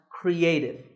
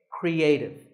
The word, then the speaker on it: creative: the word in phonetic symbols this word is pronounced creative there are three syllables Cree a and tip with the stress on a creative you might not know these symbols very well